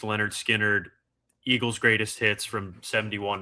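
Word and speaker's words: Lynyrd Skynyrd: I've got Pluto and Baby Pluto, pronounced Leonard Skard, Eagle's greatest hits from 71 to 75, her loss and blonde.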